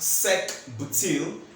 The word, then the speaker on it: sec-butyl: So why I went to say all this is because this butyl structure is actually a secondary butyl, which is pronounced sec-butyl, and italicized if you're actually writing it.